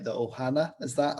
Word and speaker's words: ohana: i i hope i say this right the ohana is that how it's pronounced yes the blood runs deep traditionally with